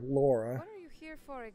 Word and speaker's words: Lara: I guess in this game she pronounced her name Lara, but I feel like in the previous section, in the So, previous games, it was more Laura.